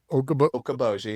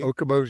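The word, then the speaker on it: Okoboji: Lake Okab Okaboji. Okaboji, that's how you pronounce it.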